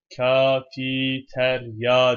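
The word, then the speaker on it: كافيتيريا: Kafiterya diye okunur. Veya tir-ya diye okunur. Sonuçta aslı Arapça olmadığından bu kelimenin Arapçaya biraz uydurmasyon olarak geçmekte.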